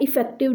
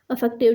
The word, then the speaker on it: affective: तो आज का सेशन बेसिकली हमारा जो है वो हमारा इफेक्टिव डोमेन पर है। इफेक्टिव नहीं है, अफेक्टिव डोमेन। प्रोनाउंसिएशन में गलती होती है, ठीक है।